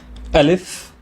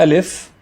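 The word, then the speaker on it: ألف: grain of salt okay the AL if is pronounced as a glut start most of the time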